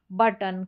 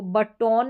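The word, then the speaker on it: button: बड़ी-बड़ी स्पेलिंग्स में ओ को अ करके प्रोनाउंस किया जाता है। ज्यादातर स्पेलिंग्स में। अब इसको बट टॉन नहीं पढ़ते कि ओ को ओ पढ़ा गया। नहीं अ बड़ी स्पेलिंग्स में।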